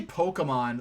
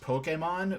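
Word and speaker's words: Pokémon: I say Pokemon like how they would they would say Pokemon in the first like few episodes of the dub, when it's really more properly pronounced Pokemon with the accented E and everything.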